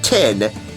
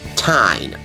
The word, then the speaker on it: Tyne: The one and only Keegan Allen with his feline friend, Tyne, which is exactly how you pronounce his cat's name. Not Tin, Tyne.